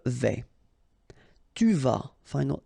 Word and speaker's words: vais: Je vais, final S not pronounced here, and remember when you combine this A and E together you get the sound E, so really open. Je vais.